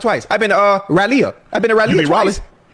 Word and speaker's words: Raleigh: I've been to uh Raleia. I've been to Ralia.